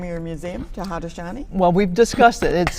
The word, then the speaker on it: Haudenosaunee: But we're also trying to get people to say Haudenosaunee because that's the correct name in that's in Mohawk. Each nation pronounces it a little differently, but Iroquois, a lot